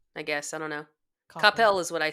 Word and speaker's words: Coppell: Rome wasn't built in a day, and we're not going to tear down Coppell Band in a day. What is the correct pronunciation of the school you work at?